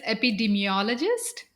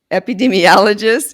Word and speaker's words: epidemiologist: look that one up how do you pronounce that so it is epidemiologist epidemiologist and researcher and you are